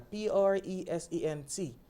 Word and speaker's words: present: On nous dit mot ça, P-R-E-S-E-N-T. When it's a noun, the stress falls in the first syllable, which is present. Present. Present. Now, when it's a verb, the stress falls on the second syllable and the sound completely changes.